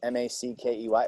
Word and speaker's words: Mackey: Last name is spelled Mackey. It's almost like Mickey, right?